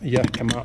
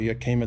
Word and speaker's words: Yakima: I've got some Yakima or Yakima, depends how you pronounce it, bike holders.